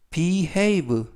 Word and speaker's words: behave: 평범한 회사원이에요라는 뜻이 되겠 이번 표현은 behave behave behave라고 발음하시면 되겠고요 이때 유의하실 점은 해가 아니라 beave라고 발음하시면 되겠고요 알파벳 a a 발음이납니다 그리고 강세도 a 있습니다 알파벳 a 강세가 있어서 behave 라고 발음하시면 되겠고요 품사는 동사 뜻은 행동하다